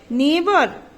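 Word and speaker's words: neighbour: नेबर, GH is silent.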